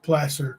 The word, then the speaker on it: Placer: I guess huh make those counterfeit bills it's pronounced Placer County Placer County sorry you know how it